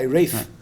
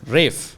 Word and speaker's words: Ralph: discuss with the guy Rafe Rafe Rafe okay why does it spell it that way then no no it's spelled this way because Rafe is apparently the older pronunciation for Ralph it's the same uh